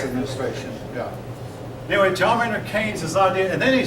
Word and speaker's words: Keynes: Now, that name is not spelled the way it sounds. His name is, I believe, I'm pretty sure it's pronounced Keynes.